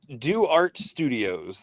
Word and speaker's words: Do Art Studios: So, Do Art Studios. That's the correct pronunciation, right? Yes, sir. Like you're doing art, which That's I it.